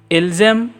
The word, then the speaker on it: ils aiment: Then comes ilzem, elzem. Here it is written as ilgem, elgem, but kindly make it softer so that it sound as ilzem, elzem.